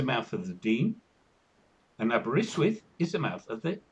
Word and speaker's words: Aberystwyth: and it was published by the University of Aberystwyth. Yeah. And I know how to pronounce Aberystwyth because I'm British.